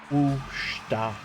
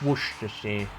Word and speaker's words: Worcestershire: Worcester. Yeah, no, it's Worcestershire. Yeah.